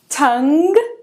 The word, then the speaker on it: tongue: Tongue, tongue, tongue. Ele não é pronunciado aqui e esse E